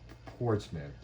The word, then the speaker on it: Portsmouth: It's like Plymouth, but with the ports instead of the pli. It's Portsmouth.